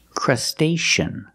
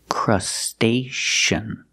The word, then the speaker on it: crustacean: good and here's another word that has c e a crustacean we see the sea before the EA making the sh sound like shoes and show crustacean crustacean but the stress on his second syllable this is a crustacean